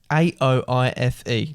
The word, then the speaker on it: Aoife: A-O-I-F-E.